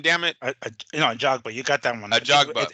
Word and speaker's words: Ajagba: Ajagba.